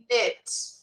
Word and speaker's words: knit: Knit. Aqui a gente não pronuncia a primeira letra, ela é silenciosa.